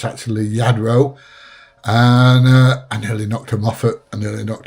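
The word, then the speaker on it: Lladró: And uh the Yadro from Spain, double L is pronounced as a Y, not a so everybody calls it Ladro, but it's actually Yadro.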